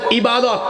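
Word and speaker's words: عبادة: বলেন ইবাদত। শব্দটা কি? এটাকে আমরা আরবিতে এভাবে উচ্চারণ করি। ইবাদা।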